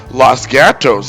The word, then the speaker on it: Los Gatos: Right in the heart of the Silicon Valley, Los Gatos is the home of Netflix. The name means the cats in Spanish, and in Spanish it's pronounced Los Gatos.